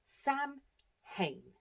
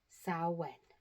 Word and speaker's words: Samhain: on your screen looks like it should be pronounced Sam Hayne.